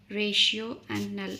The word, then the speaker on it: rational: The rational is pronounced as ratio and null.